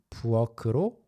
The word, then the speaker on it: 부엌: 부엌 is one of those rare words that have ki역 as the last syllable, right? There aren't many left, but 부엌으로 왔어요. Many people will also read it as 부엌으로 with a 기역 as well.